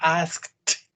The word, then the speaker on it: asked: You have to say asked. Tiene una, no pronuncian asked, sino pronuncian asked. Como con una T.